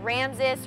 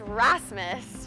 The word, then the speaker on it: Rasmus: I couldn't even pronounce his name right I said like Rams s or Aramis like I didn't even pronounce it correctly I basically ignored him for